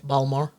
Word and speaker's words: Baltimore: Baltimore I like Baltimore but but I'm not pronouncing it correctly balmore there you go get it right so I'm